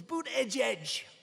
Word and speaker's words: Buttigieg: I think it was boot edge edge. Boot edge edge. They said, think of it as boot and then edge edge, because nobody can pronounce this guy's name.